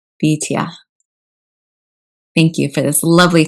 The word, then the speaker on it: Bityah: And I would love to hear it pronounced well. Bityah. Bityah.